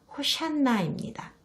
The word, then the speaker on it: 호산나: 이 노래는 호산나라는 노래입니다. 정확한 발음은 호샨나입니다.